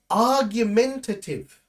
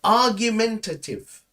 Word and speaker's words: argumentative: The next one is argumentative. Now, this one is a good one. Try to pronounce it with me. You can say argumentative, right? Argumentative. So the last part is a little bit difficult.